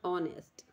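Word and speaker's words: honest: Which of द एच is silent, H silent हूँ ऑनेस्ट, ठीक है, बाकी सारे विच एच साइलेंट नहीं है।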